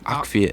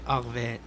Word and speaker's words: Arviat: Is it Arviat or Akviat? Arviat.